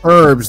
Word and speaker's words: herbs: herb it's herbs it's herbs the H is silent okay okay I I